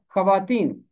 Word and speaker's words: خواتین: خاتون کی جمع ہے۔ یہ بے شک ترکی زبان کا لفظ ہے، مگر اسے عربی قاعدے کے مطابق جمع بنایا گیا ہے، اس لیے اس کا تلفظ ہے خواتین۔ मैं इन सारे अल्फाज को फिर पढ़ता हूँ।